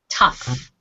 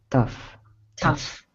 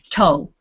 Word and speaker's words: tough: word in this word the gh sound is f tough tough yes there's a whole lot of gh endings that have different ways of pronouncing so you might look at that and think toe because often gh is